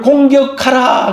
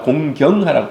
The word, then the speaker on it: 공경: 내 부모를 공경하라 그랬어요 잘못하면 어린아이가 성경 암송을 하는데 내 부모를 공격하라 그런 거예요 이게 이제 잘못 이제 자기는 공경을 너무 세게 발음해 가지고 내 부모를 공격하라 여러분 공격하는 것이 아니라 공경하라 공경하라 예 자기 부모의을 때리고